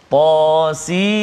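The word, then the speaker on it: طس: Kemudian surah yang ke-27 ayat yang pertama, Tasin. Hujung dia nun sebab ejaan dia sin ya nun. Kalau hamim tadi mim ya mim. Tasin ta sin ya sin. Sin ya nun sin.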